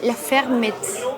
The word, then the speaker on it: La Fermette: Bueno, encontramos un lugar, es un localcito chiquito, medio de Annecy, que se llama La Fermette. ¿Así se pronuncia? Sí, la pequeña finca. Ah, la pequeña granja. Ferme, una granja.